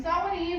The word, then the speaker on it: Samhain: I know it doesn't sound like Samhain, but they're Irish. So that's how it's said. On Samhain Eve, what we know